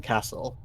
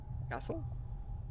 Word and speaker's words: castle: Did you just pronounce the silent T in castle? Castle?